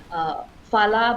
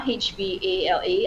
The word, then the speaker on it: Hvala: I would say some come to mind like T-Bones and Mine, Fala, but it's pronounced Havla, Hvala.